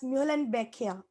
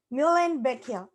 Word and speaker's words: Muhlenbeckia: Is it pronounced Newhalen Beckia? Wow, that's great, Kiran. Yes, it is pronounced as Muhlenbeckia. Muhlenbeckia.